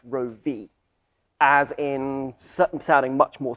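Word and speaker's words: Roewe: the wrong way is the chinese name which is supposed to sound like rogue yeah yeah i mean i always pronounce it we but it's actually i believe meant to be pronounced row v as in sounding much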